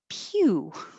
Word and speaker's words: pew: Pew. Your tongue starts very high, like you're going to say you.